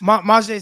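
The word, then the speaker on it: Myjai: How do you pronounce it? Maje or Maje Sanders? Maje Sanders.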